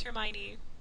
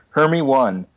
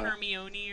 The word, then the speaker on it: Hermione: words she knew, so she pronounced it Hermy 1. Hermy 1. Hermy 1 Hermy Granger. one. I think a lot of people were like Uh, Hermione or whatever. Yeah. I Yeah. thought it was first. Hermione. I remember my sister like shoving the book in my face and being like, "How do you pronounce this?" And me at 11 being very confident and telling her it was Harmony.